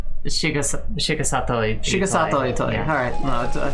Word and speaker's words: Shigesato Itoi: I'm gonna pronounce that so badly. Shigesto Itoi? Shigesato Itoi.